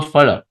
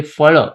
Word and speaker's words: phala: So pa and fa, we understand the difference. But actually, why just phala? You can also say phala. In Marathi, it is a phala, and that ra, of